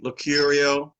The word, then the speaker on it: Locurio: in the world is from Seattle, Washington, U.S., Locurio. Did I pronounce that correctly? Locurio?